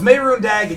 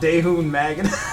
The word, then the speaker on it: Mehrunes Dagon: But other than that, it's Mehrunes Dagon. Yeah, not Daehun Magan. Folks, you can see right now that I'm being gaslit by chat. So Cold pronounced it Daehun Magan like a lunatic.